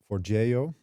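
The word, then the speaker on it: Forgejo: For that, I use Forgeo. That is apparently the right pronunciation of it.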